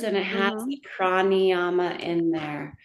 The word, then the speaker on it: Prāṇāyāma: the pranayama in there. How do you spell Pranayama. That's how pranayama? pranayama. That's pranayama. How do you spell it?